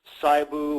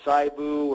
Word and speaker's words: SIBO: small intestinal bacterial overgrowth I sometimes mispronounce whether it's cybo or sigh boo or SIBO I tend to naturally say see boo but anyway small intestinal